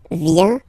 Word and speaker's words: vient: Final T not pronounced. Il vient, elle vient.